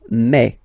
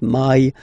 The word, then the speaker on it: mai: In French, remember, when you combine this A and then E vowels, you get the sound E, E. So really open E, okay? And then you pronounce it me, me. Okay, so don't pronounce E, don't try to pronounce it. No, it's me, me. So it's not my, it's me, okay?